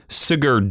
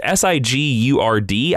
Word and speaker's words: Sigurd: Donald Blake, Jake Olson, Sigurd Jolson. I don't know how to say it. It's S-I-G-U-R-D.